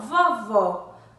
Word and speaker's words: vovó: em destaque vamos ver vovó a sílaba destaque é vó o acento agudo então vovó possui o sol aberto ou fechado aberto né vovó tão vovó deveria